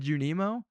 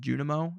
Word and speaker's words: Junimo: I said Junimo. Like that's not a crazy way to say that word. I guess you're. How do you want me to say it? Junimo is what you were looking for.